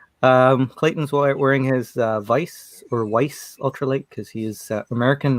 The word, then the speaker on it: Weiss: Clayton's wearing his Vice or Weiss ultralight because he is American, not German. I always want to say Vice because German pronunciation, but I don't think